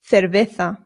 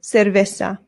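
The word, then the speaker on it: cerveza: Remember the C's in Spanish make a th sound but the zeds do as well. So this is and the v's in Spanish make a very light b sound nota. Your lips just touch very lightly when you make the v sound. Cerveta. Cerveta. Now again this is Spain pronunciation. If you want to be more Latin American, it becomes cervesa.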